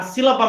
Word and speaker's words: sílaba: Por exemplo, na própria palavra sílaba, nós temos aí a palavra sílaba, é uma palavra trissílaba, ou seja, que possui 3 sílabas. Aonde a sílaba mais forte dela, que eu pronuncio com mais força, é a sílaba si, certo? Por isso, até ela recebe um acento agudo.